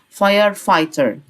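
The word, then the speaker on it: firefighter: فاير فايتر فاير فايتر الجي اتش دي في النص مش هنطقها فاير فايتر بعد كده عندي كلمه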